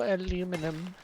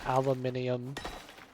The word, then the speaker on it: aluminum: Hello, aluminum. I am not pronouncing it aluminium. I don't know. Like, obviously, that's a dialect thing.